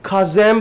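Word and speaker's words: chasm: इसको खाजम प्रोनाउंस किया जाता है। यानी कि दरार सी एच ए एस एम खाज। खाजम भी बोल सकते हो आप।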